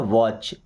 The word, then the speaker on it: watch: आई वॉच्ड a movie, देखिए क्या होता है वॉच, WATCH, टी साइलेंट है, क्या पढ़ना वॉच, इसका मतलब देखना, इसमें ईडी लगे तो वॉच्ड।